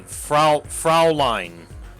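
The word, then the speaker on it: Fräulein: Okay, Fraulein is how it's pronounced.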